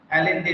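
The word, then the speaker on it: Allende: the last speech of Salvador आलेंडे या आलेंडे। जो Salvador का आलेंडे है उसके ये आखिरी स्पीच है, लास्ट स्पीच के कुछ पार्ट है ये, ठीक है ना। प्रोनाउंस एलेंडे भी बोलते हैं इसको, ठीक है ना, आलेंडे आलेंडे।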